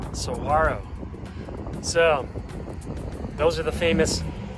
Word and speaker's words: Saguaro: to sawyo national park so some people say seguro but it's actually pronounced soharo so those are the famous large cactuses symbol